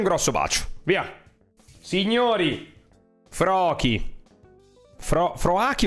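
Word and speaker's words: Froakie: Froaki o Froki? Credo si pronunci Froki.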